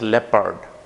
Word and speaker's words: leopard: The sound of, or the pronunciation of that word is leopard. Leopard. And it's not leopard. Leopard, it's not like that. It's leopard. Leopard.